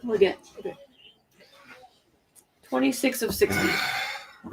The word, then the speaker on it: Legette: Xavier Legette. Legette.